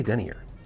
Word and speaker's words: denier: How do you pronounce it? I say Denier.